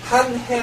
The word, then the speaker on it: une année: "Une année" 는 끝 에 'e' 를 발음 하지 않습니다 .